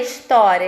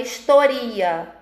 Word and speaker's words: história: Eles não leem história, eles vão ler historia. É uma coisa que não faz sentido, mas eles leem dessa forma, mesmo tendo um acento agudo no O, né? Do história.